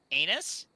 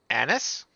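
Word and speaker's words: anise: some star anus from this and it's just anus anis look even if it tastes horrible I still will pronounce it correctly I pronounce it wrong for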